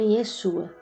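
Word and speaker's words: ישוע: Com o tempo, esse mesmo nome passou a ser pronunciado como Yeshua, Jesus.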